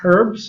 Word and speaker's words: herbs: But that's herbs? Is that herbs or herbs? Herbs. Herbs? Do we agree on herbs? You sure? But there's an H there. In English, don't we pronounce that?